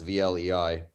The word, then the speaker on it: Vlei: How do you pronounce VLEI? Vlei, I think. Why? Yeah, I've got a friend who lives on it, so that's how he pronounces it. Okay.